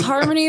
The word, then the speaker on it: Harmonie: So, it's harmony but like plural, but there's no s at the end.